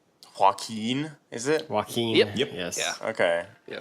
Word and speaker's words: Joaquin: I can't pronounce the first name. Joaquin, is it?